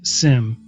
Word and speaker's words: SIEM: Uh SIM or SIM. Uh I won't I won't I won't uh harp on you if you call it same. I don't it doesn't matter to me.